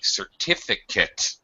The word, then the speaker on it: certificate: one would actually be certificate totally reduced pronunciation on the at certificate he he earned his certificate it doesn't S certificate that's right it is not it's just it's very much reduced unstressed syllable uh okay let's look